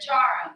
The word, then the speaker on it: Chara: Yeah, jar with like a J, like jar.